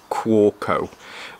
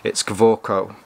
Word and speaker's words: Kaweco: Now, in English, I would pronounce this as Kaweco, but these are a German-made pen from a German company, so I'm guessing that W is actually a V, so it's Kaweco.